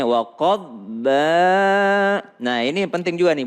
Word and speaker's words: وقضبا: Ini kalau bo tidak qalqalah maka bacanya waqadba.